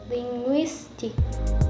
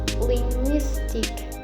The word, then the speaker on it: linguistic: commonly placed on the second to the last syllable of the world here are the examples like linguistic linguistic and words ending in comprehension comprehension and worth